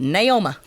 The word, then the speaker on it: Naomi: My grandmother, her name was Naomi, but being that they were from deep East Texas, my granddad pronounced it Naoma.